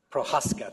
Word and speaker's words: Prochaska: To her right, Prochaska, I'm going to pronounce this wrong, aren't I? Prochaska, thank you, is the lead for financial